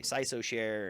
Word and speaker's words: CISOSHARE: have taken on also it's hard to pronounce so people say sigh so share and write so it's